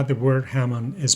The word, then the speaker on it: Hamon: Let's try to settle another debate about how the word Hamon is pronounced. Keep in mind that the Japanese language is monotone, meaning all the syllables are pronounced equally, with the same strength.